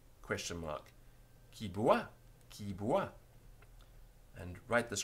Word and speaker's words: qui boit: Q-U-I-B-O-I-T question mark. Qui boit?